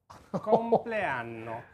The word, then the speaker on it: compleanno: Buon 57esimo compleanno.